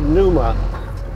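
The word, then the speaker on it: Pneuma: that Danny Cary plane it's called Numa spelled with a p n I don't know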